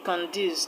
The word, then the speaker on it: conduce: Now option B conduce. The word conduce is a verb. Conduce which means to encourage to add is a verb. So the stress will go to the second syllable is a two syllabic word.